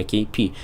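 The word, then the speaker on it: Kpii: и две буквы I и многие читают как kpi и я сам так делал буквально ещё на прошлом эпицентре то есть год назад но потом как раз мне коммьюнити подсказала что игрок сам говорил и просил называть его KP именно KP Да может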